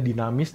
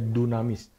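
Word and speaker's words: δύναμις: Tulisannya dinamis tapi bacanya dunamis.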